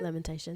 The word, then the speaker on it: Lamentations: So your first album, Lamentations, is that how you pronounce it? Lamentations.